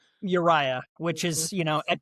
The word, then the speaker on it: Uriah: I wanted to make sure it's how I pronounce your name correctly. Uriah, which is, you know, at coffee shops I